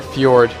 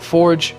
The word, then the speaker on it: Fjord: And one of the most liked comments on my last video was actually not pronouncing Howling Fjord right, or Fjord, or however you want to say it. I used to call it Forge because that's what I used to call it.